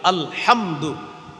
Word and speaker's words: আলহামদু: হাম দাল পেশ দু আলহামদু এই যে আপনি আলহামদু শিখলেন উচ্চারণ করলেন দেখেন আপনি হামজা লাম জবর আল হা মিম জবর হাম দাল পেশ দো আলহামদু পাঁচটা অক্ষর এই পাঁচটা